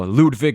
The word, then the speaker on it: Ludwig: call him I believe Ludwig but I sort of say it like the actual German you know pronunciation of ludig so ludvig von Koopa or Ludwig but uh yeah again